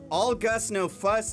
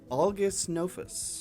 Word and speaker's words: All Gus No Fuss: So, All Gus No Fuss asks, Why did you think that was hard to pronounce? when I read it, I looked at it and I said, August Nofus.